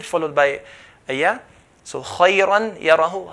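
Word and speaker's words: خيرا يره: If I say khayran yara, I'm not pronouncing the ghunna sound. The ghunna sound has to come with the sound of the mouth, with the sound of the letter.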